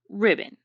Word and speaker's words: ribbon: with the schwa sound the second syllable is pronounced as bun when students are learning